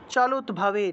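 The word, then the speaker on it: চলদ্ভাবে: সাগরস্যা চলুৎভাবে, চলুৎভাবে দয়ের নিচে ভ আছে সেজন্য দটা ভাঙলে হসন্তযুক্ত দ চলে আসে, সেজন্য এইভাবে আমরা ভাঙলাম। আর এই হসন্তযুক্ত দটাকে তৎ হিসেবে উচ্চারণ করা যায়।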